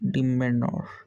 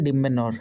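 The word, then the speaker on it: demeanour: गोटे कौन तुम डिमिनोर डिमेनोर ठीक अच्छे प्रोनाउंसिएशन देखिए डिमेनोर है डिमेनोर तेना आप ब्राइटेंड ब्राइटेंड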